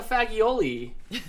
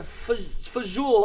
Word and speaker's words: fagioli: want and I'm like I want the fagioli and it's like no it's a fajool and I'm like gosh